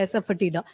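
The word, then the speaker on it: asafoetida: Pronunciation देख लेना, वैसे यही होती है एसफटिडा।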